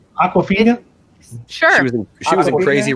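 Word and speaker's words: Awkwafina: I want to make sure that girl that I don't know how to pronounce her name. Honest to God, it's Aquafina.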